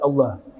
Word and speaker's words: Allah: Wa yakunu al-madd ba'da lam minallah, yang dipanjangkan huruf ba'da lam dari lafaz Allah. Bukan A-nya yang panjang.